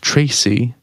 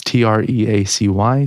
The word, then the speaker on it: Treacy: Louis Tisney, Ruth Tracy, or Treacy. It's Treacy. Sorry, Ruth.